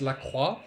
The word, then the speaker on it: Lacroix: And we have Lacroix, pronounced the French way, from Quebec.